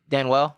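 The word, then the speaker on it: Danuel: house of the houston rocket dan well house dan well yeah this is pronounced stan well okay yeah all right well well dan well is out of the bubble he got kicked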